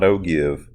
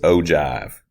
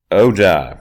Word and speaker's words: ogive: You will never guess how this is pronounced. It's not ogive, it's ogive. Ogive, that's right, ogive.